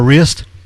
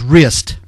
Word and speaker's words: Riste: I should tell you, folks, my name is actually pronounced Rist E. It's a Norwegian name. Rist E. Well, all I've heard is wrist. So no, it's Rist E. You say the E on the end.